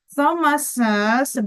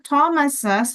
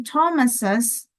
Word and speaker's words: Thomas's: Tapi cara bacanya disebutin ya, ses-nya ya. Thomas's, bukan Thomas. Tapi Thomas's, karena namanya berakhiran dengan S, maka kamu kasih hissing sound, ses gitu setelahnya, sebelum menyebutkan benda yang dimiliki.